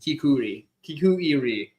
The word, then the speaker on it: Kikui: Kikui. That's how you say it.